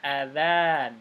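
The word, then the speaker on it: أذان: fadjriah ini ada perhatikan Ini kata azan jangan salah baca ya hamzahnya pendek adzan gitu Iya dan bukan adzan bukan adzan tapi Za Za adzan adzan itu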